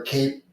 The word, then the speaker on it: CAIP: I mean, I think we're done with the cap or cape. How do you pronounce that?